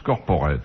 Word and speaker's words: corporate: que la publicité corporate ça s'écrit corporate ça se prononce corporate corporate intérieur d'une entreprise